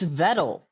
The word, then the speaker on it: Vettle: So let's see our number one is it's vettle rhymes with pedal and metal.